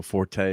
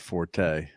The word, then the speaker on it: Forte: the four you know Forte or four we don't have um Courtney here but uh yeah so it's actually Fort not Forte the correct pronunciation but Dave don't even